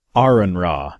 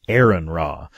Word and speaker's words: Aron Ra: raw say that's right I said it Aron raw not Aon raw anyone who's not an